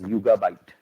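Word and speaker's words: Yugabyte: source so and it's it's pronounced as yoga byte um a lot of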